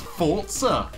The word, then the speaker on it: Forza: looking at Forza 6 it's actually pronounced Forza Italian word for power I